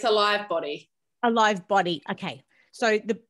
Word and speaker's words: al.ive body: Is that the correct way of pronouncing the brand, al.ive? It's al.ive body.